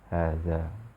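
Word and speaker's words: هذا: hadza ini pada pengucapannya Ya aslinya itu ada alifnya ya Ha dza namun orang Arab memudahkan Pengucapan ya bermudah-muda dalam pengucapan maka ee ee di tulisannya pun mereka bermudah-mudah Nah kita ikuti Nah se seperti ini Haza namun pengucapannya tetap ada yang dipanjangkan hadza namun untuk yang sudah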